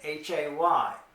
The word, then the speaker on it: hay: It looks like hay in English because it's H-A-Y. But it's pronounced like I, the same as your eye that you see with.